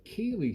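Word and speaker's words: Kailzie: and i was like kaylee spelt k-a-i-l-z-i-e which is i know an unusual pronunciation but that's the way it goes in scotland sometimes think about kirkubri ha ha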